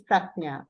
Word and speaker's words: Prajna: So P-A-N-N-A is Prajna. Okay, it's written as P-A-N-N-A, but it's pronounced as Prajna.